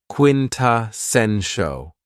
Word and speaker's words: quintessential: Another very cool adjective is quintessential, and this word has 4 syllables, and the stress is on the third syllable, quintessential.